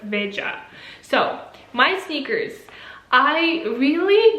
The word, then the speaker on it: Veja: In Portuguese it's not like Spanish. So this would be, if it would be Spanish. But since it's Portuguese, I suppose it's not pronounced like Veja, but Veja.